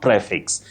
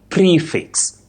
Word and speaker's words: prefix: It's not prefix. That e takes the long sound e. You say prefix. Prefix, not prefix that we commonly say.